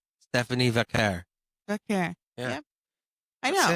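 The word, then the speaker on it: Vaquer: It's Vacquer. I know, but even other WWE wrestlers She struggle. says it herself. You got to assume she can say her own Vacquer. name. Stephanie Vacquer. Vacquer.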